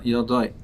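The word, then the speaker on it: Yadai: It's pronounced Videi in the plural, but it's written in the singular Yodai.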